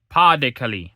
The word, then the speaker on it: Pas de Calais: a town in the Pas de Calais sector, Pas de Calais, my bad, that's how it's pronounced, piled high the rubble and debris from constant shelling and bombing.